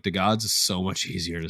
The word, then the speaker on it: DeGods: rolls off the tongue easier like i say d gods because like i've been told that's the way it's pronounced and it'll like with me to say it otherwise but like the gods is so much easier to say yeah because